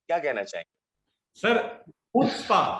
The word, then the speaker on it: Chutzpah: तो इस तरह का प्रोजेक्ट है चुचपा, नाम भी बहुत कैची है। क्या कहना चाहेंगे सर? हुत्स्पा, हुत्स्पा, चुचपा। हुत्स्पा इसका नाम है। जो इसका सी है वो साइलेंट है।